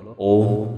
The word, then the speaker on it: ওম: আর এই ওয়ের উচ্চারণ পেট থেকে, অয়ের উচ্চারণ গলা থেকে, আর ময়ের উচ্চারণ মাথা থেকে হবে।